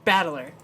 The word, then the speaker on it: Battler: The problem is my own name is made up of the characters for fight and person, and it is pronounced Battler.